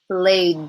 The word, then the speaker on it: blade: Blade, d, d. Good, that's the D. Just like rake, we have a silent E at the end. So now our word looks right. Blade.